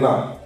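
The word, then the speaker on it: know: কে সবকটাতে আছে কিন্তু কে এর উচ্চারণ একটাতেও হবে না যেমন ফাস্টেই আছে কে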